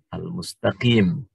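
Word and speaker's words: المستقيم: Berbeda dengan huruf mim, mustaqim. Dikasih al, maka menjadi al-mustaqim.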